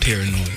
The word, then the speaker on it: Paranoyd: Paranoid. Yeah. And you got to say it right. Paranoid. Yeah. It's paranoid. Yeah, like, you know, you paranoid, but but it's paranoid.